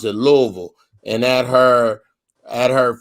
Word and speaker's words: Louisville: raised in louisville kentucky that's how they say louisville everybody else say louisville uh but they pronounce it louisville and at her at her first cousin's wedding